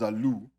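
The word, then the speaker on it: ζῆλος: In these verses, the word jealous comes from a word that is it's pronounced zalu, and it's also the word where zealous comes from.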